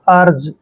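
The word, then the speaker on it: urge: आर जीई इसको हमने यर नहीं पढ़ना है इसको पढ़ेंगे हम अर्ज ठीक है अर्ज यू के बाद जब भी कोई कंसोनेंट आता है तो यू का उच्चारण हम ए करते हैं अर्ज अर्ज क्या होता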